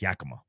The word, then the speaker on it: Yakima: way way way back I called it Yakima too until I moved and when I lived in Washington state and I learned that until you learned that's actually an Indian that's actually a Indian tribal terminology thing and it's yaka not Yakima there's actually a Yakama